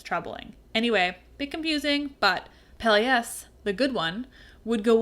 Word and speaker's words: Peleus: Peleus, and that's Peleus, not Peleus. That sounds the same when I say it. One is spelled E-U-S, that's the good one I'm talking about, and the hero on the ship, and one is spelled I-A-S, and he's the bad one, who's the bad guy in the story.